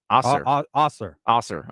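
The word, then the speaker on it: Ausar: Osir. Okay. Is it Amen? I thought it was Amen. So I was like, all right, cool. No, that is, but the other one, Osir.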